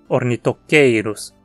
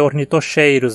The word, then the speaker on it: Ornithocheirus: cor nê toquei Cruz a penúltima sílaba tem um ditongo Ei então leva o acento horny toqueiros não vai dizer ornithocheirus hein o peteinosaurus terminantes